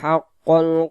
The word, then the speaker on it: حق: এখানে লাকদ, হাক্কল, হাক্কল, হাক্কাল উচ্চারণ করলে এখানে কফটা কাফ হয়ে যাবে।